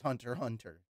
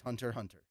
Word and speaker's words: Hunter x Hunter: __ ] it's just Hunter Hunter sorry to break your bubble the X is not actually pronounced it's not the letter X it's just kind of